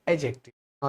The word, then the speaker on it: adjective: a pronoun is called एडजेक्टिव the point इ clear एडजेक्टिव का D silent होता है ठीक है इसका काम